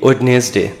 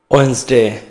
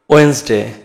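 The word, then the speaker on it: Wednesday: হ্যাঁ Monday টিউসডে টিউসডে টিউসডে আমরা এটাকে বলি ওয়েডনেসডে তাই বলি তো কিন্তু না এটার উচ্চারণ হবে তাহলে কি উচ্চারণ হবে ওয়েনসডে ওয়েনসডে শুনতে পেরেছ নিশ্চয়ই তারপরে দেখো রয়েছে থার্সডে থার্সডে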